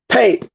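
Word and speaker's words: phaṭ: We have the Tibetan pay, which is usually spelled PHAT, but it's pronounced pay at the end of certain mantras, which is like an exclamatory, energetic opening.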